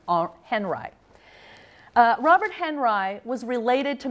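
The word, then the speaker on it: Henri: Robert Henry and I know it looks like Ari but in America we pronounce his name are Henry Robert Henry was related to Mary Cassatt and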